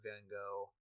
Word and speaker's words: Van Gogh: It's where Matt Smith's doctor goes to visit Van Gogh, and Bill Nye in that episode plays a loving expert on Van Gogh, or Van Gogh, as it is supposed to be pronounced.